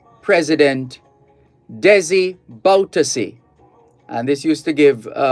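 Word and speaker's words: Bouterse: surname is b-o-u-t-e-r-s-e now on the face of it it looks French and it could be buters but it's properly pronounced so prosecution in Suriname wants ex-president Desi baltusi jailed for 1982 killings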